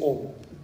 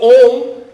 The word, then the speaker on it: Om: So, Om is basically 3 syllables. A, U and Ma.